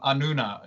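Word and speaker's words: Anúna: You mentioned also, Neeta, Anuna. Is that how you pronounce it?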